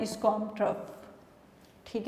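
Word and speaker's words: trough: ठीक है, जो वेव्स का ये वाला पार्ट होता है इसको हम क्रस्ट, और जो ये वाला पार्ट होता है इसको हम ट्रफ।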